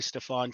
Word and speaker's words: Stefan: sure yeah uh i'm stefan um and you'll hear people call me staphon too and that's totally acceptable because the cajun side of my family the creole side uses that pronunciation so i answer to